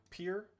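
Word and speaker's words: Pyr: Uh that is the flame of uh pier or py depending on how you want to pronounce it. P y r.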